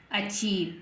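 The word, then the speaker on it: achieve: है ए सी एच ई आई वी ई अचीव क्या बन गया अचीव है ना ए सी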